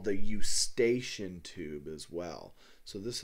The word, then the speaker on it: Eustachian: it's often called the eustachian tube as well so this is the auditory tube and then in parentheses here I'll put you station so you know how to spell it you stationed tube